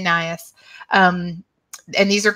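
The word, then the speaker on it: Najas: is nias so um i pronounce it nias some people say nauseous some people say nahas i you know these are latin names and so i'm sure you're all familiar with the the fact that you know anybody can pronounce them however they want i say naias um and these are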